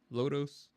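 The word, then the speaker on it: Lodoss: That's how it's spelled. Lodos.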